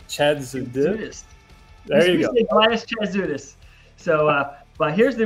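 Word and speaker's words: Chatzoudis: it's Elias Chad Chad there you go Elias chadis so uh but here's the original artwork you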